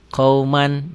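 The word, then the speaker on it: قَوْمًا: Qauman, jadi qauman sholihin. Qauman. Tulisan dan bacaan beda. Ditulisnya ada n-nya, dibacanya n-nya tambah g jadi eng.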